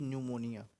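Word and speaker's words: pneumonia: निमोनिया इसे बोलते हैं पी से स्टार्ट प न्यूमोनिया है ना प साइलेंट होता है इसलिए न्यूमोनिया बोलते ठीक है तो याद रखना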